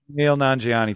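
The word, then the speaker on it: Kumail Nanjiani: Camille Nanjiani. Thank you very much. I was just trying to have somebody else pronounce it correctly.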